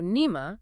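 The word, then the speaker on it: نعمة: So nima, with a kasra, a short I sound, generally refers to a divine blessing, a grace, or a favor bestowed by Allah.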